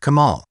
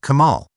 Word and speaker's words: Kemal: As the circumflex accent on the final a softens the l, the pronunciation closely approximates that of the Arabic Kemal.